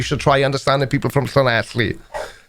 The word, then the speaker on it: Llanelli: In Wales, or in the Welsh language, 2 L's is... What? I'm not cleaning my throat. Like a cockroach. So that word is Llanelli. Llanelli. That's it. Nailed it. Because there's 2 double L's in it.